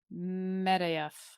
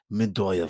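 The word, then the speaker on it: Medoyeff: It's pronounced. They can see it. Medeyev. No. Medoyev.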